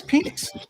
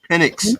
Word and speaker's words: Penix: It's Penix. Penix. Call from Bro, you just wanted to be Rebel. Penix. It's Penix. It's Penix, bro. Bro, it is Penix, bro. Okay? No, it's not, bro. Bro, it's Penix.